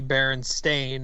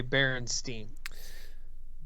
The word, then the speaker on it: Berenstain: Pronouncing those words out, Steen and Stain, when you see that written, it's pretty clearly Stain.